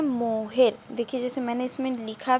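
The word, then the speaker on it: mohair: और ऐसे इंग्लिश में देखिए प्रोनाउंसिएशन किया जाएगा तो देखिए ये होगा मोहेयर।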